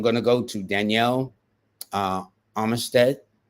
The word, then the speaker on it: Armistead: go to Danielle uh Armistead Armstead no Armistead yeah that's that's the pronounced way of saying it they are an air